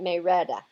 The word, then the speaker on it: Marietta: Marietta down in Georgia they pronounce that May Retta Marietta but they pronounce it may Rhetta I used to live